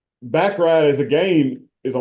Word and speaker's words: baccarat: Where they're playing baccarat. Is that how you pronounce it?